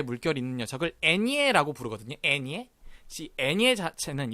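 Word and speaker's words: eñe: N 위에 요 물결 있는 요 녀석 발음 혹시 알고 계시나요? 그렇습니다. 이 N 위에 물결 있는 녀석을 애니에라고 부르거든요. 애니에.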